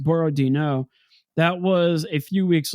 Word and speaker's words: Borodino: Uh the battle of uh Borroino. I think that's actually how it's supposed to be pronounced. Borodino.